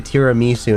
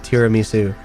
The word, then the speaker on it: tiramisu: They still make fun of the fact that I say tiramisu instead of tiramisu, like slightly off mispronunciation, but they just they just hammer me with it.